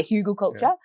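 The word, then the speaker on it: Hugelkultur: like the huden culture H hug culture yeah hugle culture um but I steal elements from that like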